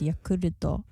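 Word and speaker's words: ヤクルト: say it i mean in japanese it's yakuruto but then it's written yakult and it sounds like you're saying you're called like you're called it has nothing to do with cults sober is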